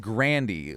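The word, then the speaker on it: Grande: ] do you know she pronounces her name like Grandy like candy she says she got tired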